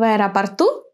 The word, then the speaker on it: аэропорту: В аэропорту, в углу. Where is the accent in these words? Listen. В аэропорту, в углу. Yes, the accent falls on U, on the last syllable.